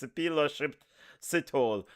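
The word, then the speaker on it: Sphephelo Sithole: Yeah, I know you guys been playing around with this man's name, but it's Shipilo Sithole.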